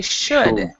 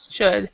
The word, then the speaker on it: should: this word it's actually should should so the l is not pronounced at all so you don't even have to try to do the l there so should so for